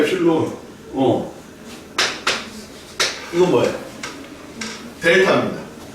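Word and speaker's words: epsilon: 입실론 아니야, 엡실론. 이건 뭐예요? 델타입니다. 엡실론, 델타 방법을 이용한 함수의 극한의 성질의 엄밀한 고찰입니다.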